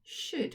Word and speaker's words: should: job it's the word should what was the tricky part in that word great it was the o and the u makes uh sound and the l and the d in this word